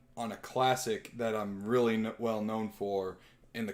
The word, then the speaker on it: Ryu: Mario so I combined Ryu I'm sorry I said that wrong his name technically is one syllable it's real yeah so from Street